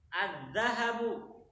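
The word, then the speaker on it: الذهب: apa kemarin jant jantan azzahabu azzahabu apa Berti zahab emas azzahab itu emas ingat haknya enggak panjang kalau haknya panjang itu nanti artinya pergi azzahab itu artinya pergi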